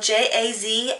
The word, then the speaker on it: Jazlyn: And if I have not mentioned her name is Jazlyn, which is spelled J-A-Z-L-Y-N, and it's Jazlyn.